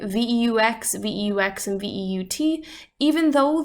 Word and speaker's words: veux: If I wanted to say that I want something, I would say je veux, V-E-U-X. If you want something, we would say tu veux, V-E-U-X, spelled the exact same way.